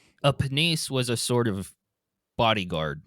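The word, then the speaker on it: Pniese: selected to become a This one I did look up pronunciation for, but penise or just nice possibly. P N I E S E. I'm gonna say penise just because it sounds different than than another English word.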